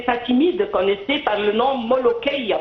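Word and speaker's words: ملوخية: Même les Fatimides connaissaient par le nom molokhia, parce que c'est plutôt le K, pas le Kra. Les Européens ne le prononcent pas comme nous avec le Kra.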